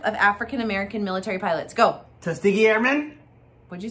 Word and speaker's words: Tuskegee: Tuskegee Airmen? What'd you say? Tuskegee Airmen. Tuskwhatty? Tuskegee Airmen? Tuskegee.